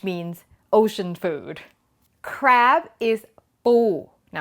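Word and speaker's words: ปู: Crab is ป ู Now, I need to point out it's a very tight P. It's not poo, it's ป ู okay?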